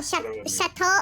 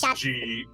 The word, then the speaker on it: Gâteau: Oh, chateau au chocolat? It's pronounced like chateau. No, Like it's Gateau.